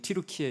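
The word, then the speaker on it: 튀르키예: 터키 옛날에 터키터키 하다가 지금 티르키에 이렇게 우리가 발음하는데 그쯤에서 이렇게 그쯤에 있던 교회다 이렇게 이해하시면 되겠습니다.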